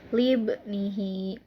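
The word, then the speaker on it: لِابْنِهِ: Kemudian ada yang keempat, yaitu lafad libnihi. Nah, yang di garis bawahinya adalah ibni. Nah, itu di bawah ba ya. Itu hukumnya adalah qalqalah sugro. Kenapa disebut dengan qalqalah sugro? Karena huruf qalqalah yaitu ba disukun dan posisinya di tengah kalimat. Cara membacanya dipantulkan secara ringan. Libnihi.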